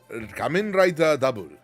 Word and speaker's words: Kamen Rider W: But before all that, you'll have to watch Kamen Rider W. It's pronounced double. Kamen Rider Double.